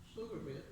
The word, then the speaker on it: Pflugerville: Pflugerville. But Pflugerville, Mom, well, the P is silent.